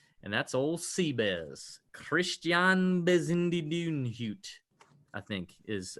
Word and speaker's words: Bezuidenhout: Christian Bezindidunhut, I think, is how you say it.